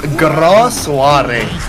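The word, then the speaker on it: Grand Soirée: Hey, Grand Grand Soiree. Person who speaks French, would you like to correct my pronunciation? Yes, Grand Soiree.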